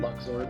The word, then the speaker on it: Luxord: I probably said his name wrong. I'm sorry, dude. Luxord.